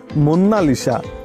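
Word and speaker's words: Monna Lisa: কেউ একে মোনালিসা বলে কিন্তু ইটালিয়ান ভাষাতে এর সঠিক উচ্চারণ হলো মুন্নালিসা যার অর্থ আওয়ার লেডি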